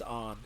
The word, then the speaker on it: Anne: It's like, yeah, if it's spelled one way, but if it's canonically supposed to be pronounced another way... Like, I don't think any character ever says her name is On. She doesn't even say it. She says On. She doesn't say Anne, so...